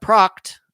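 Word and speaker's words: Pracht: at a situation like eric proct i think that's i think i finally got that straight on how his last name is pronounced p-r-a-c-h-t not a disappearance that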